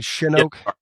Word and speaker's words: Shinoak: And, uh, am I pronouncing that correctly? Shinoke.